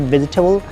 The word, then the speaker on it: vegetable: It is not vegetable. The correct pronunciation of this word is vegetable.